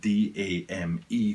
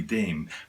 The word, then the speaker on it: dame: The way they would read this word here in Japan, which is where I am obviously, is da-me. It wouldn't be Dame the way we read it in English. It would be 2 syllables, da-me.